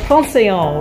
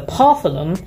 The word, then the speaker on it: Pantheon: It's the first day of the Paris trip, and today we're going to Shakespeare and Company and the Pantheon, which my mum keeps pronouncing the Parthenon.